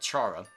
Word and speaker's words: Chara: Eventually, this character whom people have called Chara, or Kara, depending on your pronunciation.